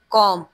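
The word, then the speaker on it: comb: कॉम, उसमें silent letter कौन सा होता है? B, very good.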